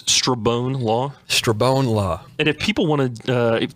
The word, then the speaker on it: Strabone: Strabone is common too. Strabone, Strombone. It gets mutilated quite a bit. So let's just set the record straight. It's Strabone Law? Strabone Law.